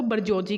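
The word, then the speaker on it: bourgeoisie: और the upper class को बरजोजी कहा जाता है। क्या कहा जाता है? अपर क्लास को। ये इंपॉर्टेंट स्पेलिंग है, इसको ये मतलब इंपॉर्टेंट फॉरेन एक्सप्रेशन है, इसको भी याद रखिएगा।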